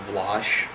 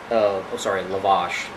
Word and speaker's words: lavash: and constantly arguing with this Islamic Vlash. Lavash. That's how it's pronounced.